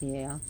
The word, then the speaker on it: Gaia: Titaness Gaia, but Gaia, it's pronounced Gaia in Greek.